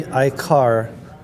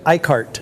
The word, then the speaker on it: Icart: collectors of art across the world as Louie Iicar, this master of etching was born September 12th, 1888 as Louise Justine lauron i. Now it is iica. I I I most Americans say iicart which is fine but it doesn't really matter